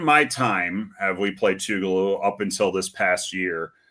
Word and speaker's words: Tougaloo: Have you Have y'all ever played Tougaloo before? Am I even saying it correctly? You're saying it right. Um, not in my time have we played Tugaloo up until this past year.